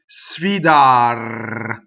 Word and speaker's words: sfidar: Sfidar, right? Sfidar. 1D, rolled R at the end.